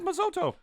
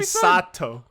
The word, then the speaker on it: Misato: You got the name wrong. I did get the name. He told me it was pronounced that way. He said Masoto. That's what Misato.